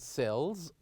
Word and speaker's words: sells: And the word sells ends with the sound Z.